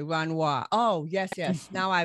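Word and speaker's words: Wanhua: the fight to stop the renoir plant did i pronounce that right it's wanwa w-a-n-h-u-a mm-hmm w-a-n-h-u-a runway oh yes yes now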